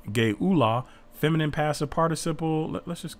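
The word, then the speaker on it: גְּאֻלָּה: Gullah, pronounced Geula, feminine passive participle.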